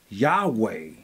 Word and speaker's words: Yahweh: it says the following while inclining to view the pronunciation Yahweh as the more correct way we have retained the form Jehovah because of people's familiarity with it since the 14th century